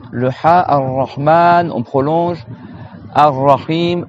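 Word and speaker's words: الرحيم: Ar-Rahim, shadda sur le ra, et le ha, on prolonge. Ar-Rahim.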